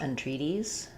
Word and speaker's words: entreaties: I'm thinking it's not a strong N, entreaties. It's going to sound more just almost like the N sound or in with a little I or eh vowel at the front. And then we have the tree is a stressed syllable. And then this T will be flapped, so it'll be more like an E, like a D sound.